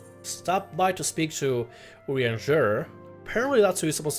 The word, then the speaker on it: Urianger: I think it's Urianger. You gotta like give it a French spin. Urianger.